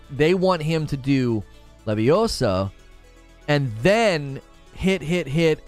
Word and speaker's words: Leviosa: even a gif of Hermione correcting the pronunciation levios Leviosa not Leviosa it's Leviosa not Leviosa